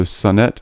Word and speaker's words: Sonnet: say your name right NE T NE T Sonet so Sonet do you you pronounce it yes Sonet Sonet Sonet okay that's great